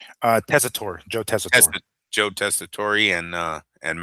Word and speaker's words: Tessitore: Tessitore, Joe Tessitore.